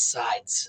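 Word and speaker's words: Seids: big Instagram handle uh it's spelled s-e-i-d-s sides uh her name is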